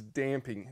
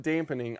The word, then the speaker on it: damping: gee finally the last strategy is damping da MP damp not dampen not dampening I catch myself saying